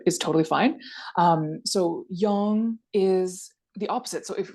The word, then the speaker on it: Yang: it would be yangong a lot of people pronounce this Yang um which is not strictly correct but is totally fine um so young is the opposite so if we want to